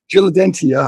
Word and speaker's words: Diligentia: And Brian Willingham, how do you pronounce it? Diligentia? That's about as close as I've heard anybody. Diligentia, yep. Diligentia. I wasn't sure if it was Sha or Tia, but Diligentia.